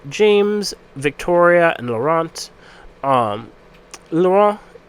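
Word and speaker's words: Laurent: Victoria and laurant um lauron I think is how it's actually pronounced but I'm going to pronounce it like laurant because I am an American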